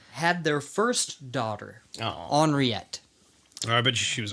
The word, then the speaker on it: Henriette: Henriette. Oh, I bet she was ornery. Well, Nice. it's technically like Henrietta, Yeah, but in, it's like the French Or like pronunciation. Henrietta.